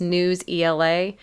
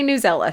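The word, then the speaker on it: Newsela: it's NE WS EA some people pronounce this news Ela I try to get my pronunciations from the websites of the tools themselves and listen to their videos and how they say it they say newella so I'm saying newella this is what I'm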